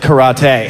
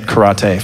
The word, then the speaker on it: karate: People are laughing at my pronunciation, but I'm actually right, and you're wrong. My sensei pronounced it karate, and he was from the Isle of Okinawa, so. I'll be pronouncing it karate for the next couple of minutes.